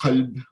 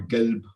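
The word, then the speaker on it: قلب: So at the bottom, the word qalb, it means heart, as in the heart, right? And it could be pronounced qalb or galb or elb, depending on which dialect you belong to.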